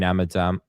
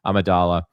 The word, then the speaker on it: Amidala: wore the the Queen Amidala I keep saying it wrong gosh I'm tired tonight Amidala in in certain parts of the movie but like this is 100% Natalie Portman.